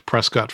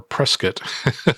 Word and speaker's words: Prescott: If we make it to Prescott for our or Prescott, I think it's pronounced differently than Trescott.